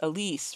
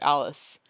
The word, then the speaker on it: Ellis: To me, Ellis is pronounced Elise rather than the standard Alice.